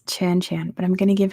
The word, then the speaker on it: Chan Chan: It's 2 syllables, and both of the syllables are the same sound.